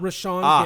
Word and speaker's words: Rashan: So John said it was Ray Sean Garry. Yeah, it is. Am I still saying it wrong? Raan Rashan. Rashan. Rashan Gary. Got it. Okay. John, you were correct.